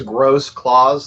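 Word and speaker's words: Grossklaus: all uh my last name is gross Claus like Santa Claus and it's been mispronounced by everybody I've ever known my entire life so that's uh something I'm extremely used to grow Claus right like yeah like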